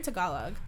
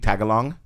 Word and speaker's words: Tagalog: that's too hard why how do you pronounce it tagalog huh you're like tagalog how'd you know that's nice i thought about what's the dumbest way i could pronounce this word i actually used to say i used to tell them too like i don't know how to pronounce it so i'm just gonna say do you speak tagalong tag along and they look at